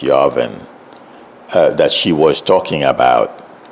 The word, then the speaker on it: Yarvin: It's Yarvin.